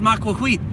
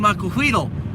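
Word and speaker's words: Macuahuitl: You should see all the comments on my Aztec videos about it's pronounced Maquahuit. It's pronounced Maquahuitl.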